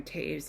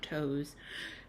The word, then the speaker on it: Toews: Anyways, today's book is Women Talking by Miriam Taves. Yes, it is pronounced Taves, not Toes.